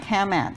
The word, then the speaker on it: CAMAT: How do you pronounce it? CAMAT.